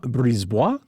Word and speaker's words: Brisebois: In French, you pronounce the vowels, don't pronounce consonants unless they're followed by vowels. Guillaume Brisebois, defenseman Guillaume Brisebois, left wing Philippe de Giuseppe, center Max Sasson from the Abbotsford Canucks.